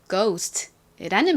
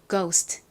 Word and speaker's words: ghost: 이 단어에서 GH는 G의 소리, 그 기역 소리가 납니다.